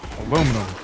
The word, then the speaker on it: aluminum: that's aluminium i'm like no the the us pronunciation of aluminum is aluminum they're like no but it's actually pronounced aluminium